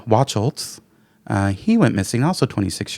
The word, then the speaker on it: Wachholtz: And then Michael Wachholtz, actually, I looked up the pronunciation. I wanted to make sure I get it right. Wachholtz, he went missing, also 26 years old.